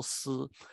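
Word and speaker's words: 師: for lion, si, and the word for teacher is also si, like Sizi for lion and Lao Si for teacher. Lo Si for teacher, Si Ji for lion, both pronounced Si.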